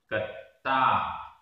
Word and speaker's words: कत्ता: कत्ता, कत्ता। आधा ता पूरा ता, बड़े आ की मात्रा।